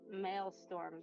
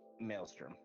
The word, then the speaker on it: maelstrom: um can I cast I'm going to cast male storm then mile storm I don't know I'm probably pronouncing that wrong maelstrom yeah thank you that one but uh first